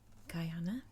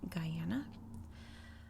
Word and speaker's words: Guyana: I've heard Guyana, I've heard Guyana, and then there's Guyana, which I believe comes from French Guyana, which is just a hop, skip, and a jump away.